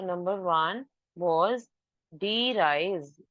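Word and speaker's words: de Vries: so number one वाज डी राइज वी is silent we call it एज डी राइज number two coherence and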